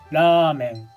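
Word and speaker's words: ラーメン: like Ramen Ramen is written like this and pronounced as Ramen can you hear how the V sound in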